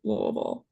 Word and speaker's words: Louisville: feel bad about that I went into it saying Louisville and then I was told to say lville all right lville I'll make sure to